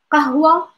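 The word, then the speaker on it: قهوة: Kahwa, kahwa, I open my mouth. Kahwa, kasha, kasha, kahwa, kasha. Brit, kahwa, kasha, kasha. You notice, it's like, really, you have, like, to open your mouth to, like, pronounce the words correctly.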